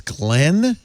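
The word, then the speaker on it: Ghislaine: conspiracy theorist oh yeah you pronounce g-h-i-s-l-i-n-e as glenn glenn glenn glenn i heard it from her father it's like siobhan it's like one of those weird irish yeah long and then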